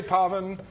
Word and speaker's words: Poven: I say Poven. It's spelled Poven. There's probably people in my family who pronounce it Poven.